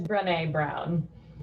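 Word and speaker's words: Brené Brown: well cool i think say ashley ashley it's pronounced it is brene brown buy all of her books absorb her work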